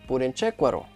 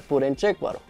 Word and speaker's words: Purenchécuaro: Nos fuimos a San Jerónimo de Purenchécuaro, que ya lo estoy pronunciando bien, porque cuando yo estaba ahí solo antes decía San Jerónimo, pero es Purenchécuaro.